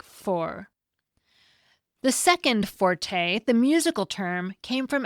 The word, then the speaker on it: forte: It is spelled with an E at the end in Italian, and in that language, the word has always been pronounced with 2 syllables, forte.